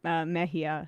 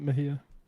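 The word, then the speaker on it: Mejia: So, um the candidate is named uh Analia Mahia. So, if you're in New Jersey, go out tomorrow and vote for her. How do you spell that? Mahia.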